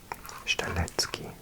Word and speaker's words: Strzelecki: In Polish it would be Szczelecki Desert, Szczelecki, but goodness knows how Australians pronounce it. Let's try and guess. Strzelecki, maybe ignore the Z and make that a K. Strzelecki Desert.